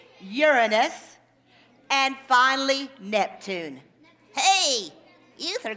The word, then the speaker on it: Uranus: saturn and pay attention this is the proper pronunciation uranus and finally neptune hey ether got about pluto